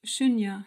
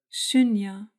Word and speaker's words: śūnya: Shunya ist für sich genommen mehrdeutig. Man braucht jemanden, der dir sagt, welches Shunya. Es hat ein langes U, das oft zu Au wird.